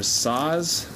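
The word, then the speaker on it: Saaz: left in our boil these are saws that's how you say it yep saws size hops for the last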